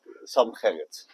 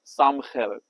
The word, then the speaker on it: Sam Gerrit: For a lot of people, it's very difficult, but Sam Gerrit. Sam? Yeah. In Dutch, we say Sam, Sam? and then Gerrit. Sam Gerrit.